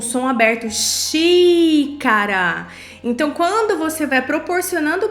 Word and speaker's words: xícara: Outro exemplo aqui, xícara. Aí você pronuncia, né? Articula pausadamente, repita se necessário. E o que você vai fazer? Xi, na sílaba xi, o som do i é aberto.